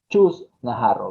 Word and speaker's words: Chus Naharro: Chus Najarro, bienvenida. Lo he pronunciado bien, creo.